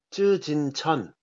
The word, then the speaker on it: 쯔진천: 작가 쯔진청이라는 작가의 작품이고요 쯔진청 예네 이게 그 한자로는 자금지전이라고 쓰더라고요 요즘은 이제 발음으로 하니까 중국 발음으로 하니까 맞아요 옛날 같으으면 이제